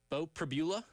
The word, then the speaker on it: Bo Pribula: Bo Pribula. There you go. Bo Pribula, not to be confused with arugula or anything like that. Bo Pribula, small sample size warrior here at Penn State.